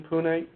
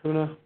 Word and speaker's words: Pune: to go add um um DPAC is in Pune am I saying it right Puna Puna Pune okay thanks okay I'm going to